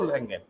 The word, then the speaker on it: Langley: हाँ, इसकी इकाई यूनिट लैंगल या लैंगले है, इंग्लिश जरूर लिखिएगा। किताबों में लैंगल ही मिलेगा, कुछ इसमें साइलेंट वर्ड्स हो जाते हैं। स्पेलिंग ध्यान से लिखिएगा बेटा, LANGLEY, है ना बेटा।